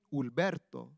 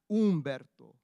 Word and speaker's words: Ulberto: He responds lovingly to mijo, and can pronounce his middle name, Ulberto, not Umberto or Roberto or any other form of Beto, pero Ulberto.